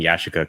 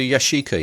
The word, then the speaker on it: Yashica: well done just now for a pronouncing Yashica correctly Oh nailed it and I know you've told me now I'm gonna forget so I said yes you could that's supposed to Yashica yeah correct yeah yeah but I